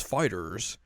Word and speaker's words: FighterZ: Even though Bandai Namco is like, you pronounce that as fighters.